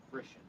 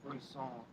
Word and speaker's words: frisson: you can talk about the phenomena of frisson. At least that's how I think it's pronounced. It's derived from the French word.